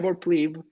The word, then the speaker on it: pleb: us with like a woman pronouncing pleb and she was like pleb pleb so that's that's the correct way to pronounce it and i will die